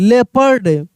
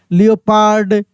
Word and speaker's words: leopard: हैं इसको, ठीक ना, लियोपार्ड, जियोपार्डी ऐसे हम लोग बोल देते हैं, लेकिन एक्चुअल में प्रोनाउंसिएशन यही होता है, लेपर्ड, जेपर्डी, थियरी।